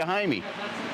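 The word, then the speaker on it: Jaime: Her name is spelled like a Mexican guy's name. Oh, okay. And that's what they call my name in Spanish is Haime.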